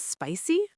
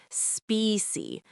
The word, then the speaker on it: spicy: Is this spicy?" Very common question. Is this spicy? Let's practice pronunciation. Spicy, not specy. Spicy.